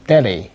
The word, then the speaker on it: Delhi: 这个词大家要注意 H 是不发音的，是一个哑音 mute Delhi.